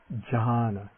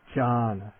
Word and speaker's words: jhāna: ja jah the word for meditative absorption is john john and then the nasal palatal nasal the n